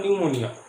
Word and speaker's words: pneumonia: এইখানে দেখো পিটা আছে, কিন্তু এই পিটা সাইলেন্ট।